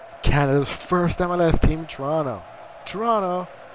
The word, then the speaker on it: Toronto: Toronto, our first O is silent.